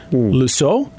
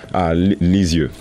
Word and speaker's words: Lisieux: Let me say if I pronounce this correctly. Lusseau? Lisieux.